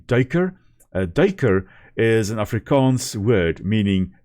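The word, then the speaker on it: duiker: So this daker here very often pronounced duka but it's actually derk is an Africans word meaning diver.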